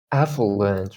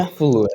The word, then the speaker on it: affluent: Affluent, right? Affluent, not Yeah, affluent. affluent. Affluent. The stress on the second part. If you say affluent, you're putting the stress on the F. but it's not.